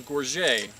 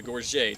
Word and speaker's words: gorget: in multiple styles but this is a gorget it has other pronunciations too but that's the one i like to use this helps a little